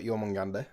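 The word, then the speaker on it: Jörmungandr: Yormungandr. Oh, you're not wrong. It's Norse. Well, that's how you spell it.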